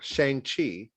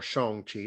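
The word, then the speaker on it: Shang-Chi: widow ten rings uh shang chi or shong chi depending on you want to pronounce it and the legend of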